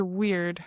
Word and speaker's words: weird: We're not wear but weird like the word weird. If you're thinking of the word wear, wear rhymes with bear.